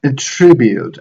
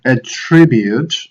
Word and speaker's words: attribute: Now be careful with attributes and attribute. As a verb, attribute, and as a noun, attribute.